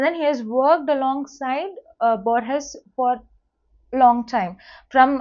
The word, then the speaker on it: Borges: So sometimes you might see certain people pronouncing it as Borges, depending upon the fluency or the influence of the native language.